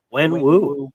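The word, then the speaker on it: Wenwu: When Wu.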